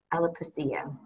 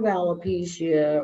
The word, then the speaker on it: alopecia: Alopecia.